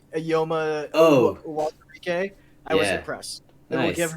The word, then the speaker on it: Uwazurike: Don Apatow did actually a very good job pronouncing Ayoma oh, Uwazurike.